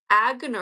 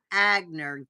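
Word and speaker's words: Aigner: n r is from Germany and they produce agner pronounce it agner God yeah that's interesting see see Don is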